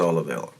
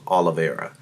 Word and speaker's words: Oliveira: Can Dustin Poirier beat Charles Oliveira? Ooh, I said his name wrong too. Charles Oliveira.